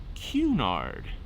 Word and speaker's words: Cunard: to look at you and say no it's pronounced cunard it's tony for lolly to look and until